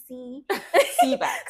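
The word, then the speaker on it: CBAAC: I heard you spoke about, you know, the Ministry of Arts and Culture and I'm finding it difficult to pronounce the CB CBA Seback.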